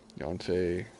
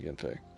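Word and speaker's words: Yanfei: not what're R um yon what is it pronounced Yen okay I'll start saying that then Yen Fe thank you for telling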